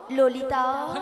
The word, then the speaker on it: ললিতা: মাসি ওটা লালাই লালাইও নয় আর ললয় ললয়ও নয়, তাহলে বলো ললিতা।